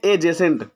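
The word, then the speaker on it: adjacent: एजेसेंट, यहाँ पे D silent रहता है, डी के बाद अगर जे आता है और उसके बाद में ई आता है, जे ई, तो जे ई से पहले अगर डी आ रहा है तो वहां पे स्टूडेंट्स डी साइलेंट हो जाता है, तो उसको पढ़ते हैं एजेसेंट। ऐसे ही एडजेक्टिव होता है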